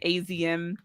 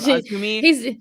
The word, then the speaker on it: Azumi: Mercedes was not making fun of, but saying AZM instead of Azumi.